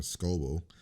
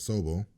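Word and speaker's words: Sobel: who's doing a solo I kept calling him Scoble just got Opie or whatever the hell I know I kept saying his name wrong but so Bo right was this here so bo s OB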